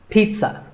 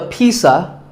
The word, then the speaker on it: pizza: I had this, pizza. Really, I did. It's not a pizza and it's not a pizza. There's no z sound in this word. It's Pizza. Pizza.